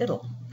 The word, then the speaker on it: ITIL: 2011 overview what is I tell it's information technology infrastructure library and sometimes it's pronounced it'll because it was developed in England that's the way they pronounce it it's a framework of